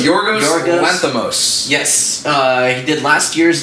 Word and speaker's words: Yorgos Lanthimos: No, it's directed by, how do we say his name? So Yorgos Lanthimos.